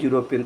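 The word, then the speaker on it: European: पूरा पढ़ोगे पढ़ते हो तो इसको पढ़ते हैं यूरोपियन क्या पढ़ते हैं यूरोपियन तो पहला अक्षर य है क्या है यह जब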